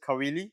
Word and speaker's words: Caoile: Today I'm joined by Nicholas Caoile. Is that how I pronounce it?